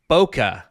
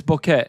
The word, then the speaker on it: bokeh: Zappa Blues demands you say it bokeh. Yeah, I hate this. It's not. First off, it's not. It's bokeh, and it's a Japanese word, to refer to the out of focus or blur of an image.